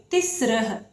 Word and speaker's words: तिस्रः: तिस्रः। कुछ बच्चे इसको बोलने में थोड़ा सा समझ नहीं पाते हैं कि इसको कैसे बोलना है, तो इसका उच्चारण सीख लें। तिस्रः।